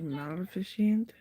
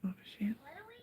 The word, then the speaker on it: Maleficent: It's pronounced just like it's spelled. Like kind of like magnificent, but it's like Maleficent. Yeah, I think it's Maleficent.